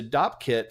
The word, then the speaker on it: Dopp kit: pronounce it as a Dopp kit or a dope kit you don't talking about a domkop kit yeah so it's a Dopp kit filled with a bunch of things and they're